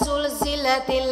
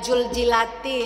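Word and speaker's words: زُلْزِلَتِ: masih salah misalnya idza zulzilatil ardu zilzalaha banyak orang baca Ija IJ Zul jilati atau baca idza jadi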